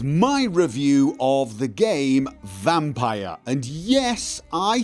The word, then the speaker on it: Vampyr: want to say it I say vampire rhymes with Tyre higher higher not vampy rhymes with D P or over here okay